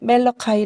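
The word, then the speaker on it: Malachi: 영어 로 는 " 말라키 " 라고 읽습니다 .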